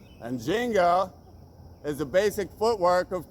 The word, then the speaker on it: ginga: And swing in Portuguese is pronounced ginga. And ginga is the basic footwork of capoeira, which is this Brazilian sport / dance martial art thing.